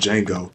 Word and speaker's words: Django: It was just a a western movie called Django. The D is silent.